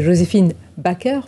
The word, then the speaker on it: Joséphine Baker: Ma France, c'est Joséphine Baker, pour le prononcer en français.